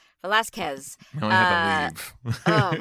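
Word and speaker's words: Velázquez: Velazquez.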